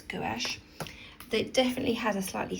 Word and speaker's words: gouache: And it's interesting in America they pronounce that gauche. But I think it's gouache.